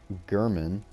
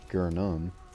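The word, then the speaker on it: Yharnam: pronouncing his name wrong it's actually German instead of guernam I'm just so used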